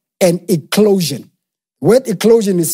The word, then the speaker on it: eclosion: I want you to get ready to experience what is called an eclosion. Word eclosion is spelled E-C-L-O-S-I-O-N.